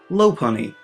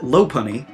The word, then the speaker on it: Lopunny: Lopunny. The name of Buneary's evolved form is a portmanteau of Lop and Bunny.